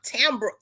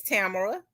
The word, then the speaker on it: Tamara: He couldn't He couldn't even He called me Tam Tambra. Tambra. He couldn't even pronounce it. Tambra. He was like, "I can't even pronounce that name. Where you get that from?" I said, "Dad, you know my name is Tamara."